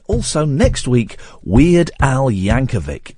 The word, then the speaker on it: Yankovic: And also next week, Weird Al Yankovic. It's a hard C at the end.